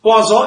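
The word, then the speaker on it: Poisson: it is spelled as p-o-i-s-s-o-n but then the pronunciation is quasa it's a french it is a it is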